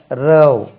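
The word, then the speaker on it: row: வந்து அதே இப்படி எழுதுவாங்க ரவ் ரவ் ரவ் ரோவிங் அபௌட் அப்படின்னா அந்த துடுப்பை கொண்டு போட்டே கொண்டு செல்வது சொல்றானா இதே வந்து ராவ் என்று உச்சரிப்பாங்க தமிழ்ல எப்படி எழுதுறதுன்னு தெரியல ராவ் இது மாதிரி பாவ் மாதிரி ராவ் ராவ் பாருங்க ராவ் ராவ்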